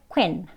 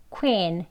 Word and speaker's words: queen: 이거는 E를 길게 발음하는 거예요. 그래서 짧게 quen 이렇게 발음하는 게 아니고요. 여기 이제 이 소리 조금 이 하면서 입끝 당겨서 queen 이렇게 발음하셔야 됩니다.